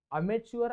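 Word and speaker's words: amateur: one word सब्सिटशन मध्ये अमेटर पाहिलेला आहे किंवा अमेर अमेटरचा अमेचुअर असं सुद्धा एक प्रोनन्सिएशन आहे पण अमेटर अमेटर म्हणजे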